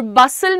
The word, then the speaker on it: bustle: अब प्रोनाउंसिएशन क्या है? हस्टल लिखा है, पर हम बोल कैसे रहे हैं? हसल। हसल यहाँ पे टी साइलेंट है और बसल में तुम्हारा टी साइलेंट है, and then this becomes hustle and bustle.